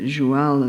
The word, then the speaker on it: joual: Joual gets its name from the idea that joual is how cheval is pronounced in it.